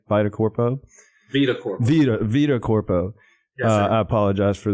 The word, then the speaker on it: VitaCorpo: But it would seem like VitaCorpo is how I pronounce it, right? VitaCorpo? VitaCorpo.